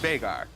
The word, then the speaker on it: Veigar: It's an Icelandic name, and it's actually pronounced Veigar. You hear a lot of people say Veigar, but I know the actual human. Okay. I lived with him, and it's pronounced Veigar.